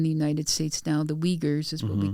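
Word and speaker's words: Uyghur: The Weaguers is what we call them. their own word for themselves is kind of unpronouncable in English.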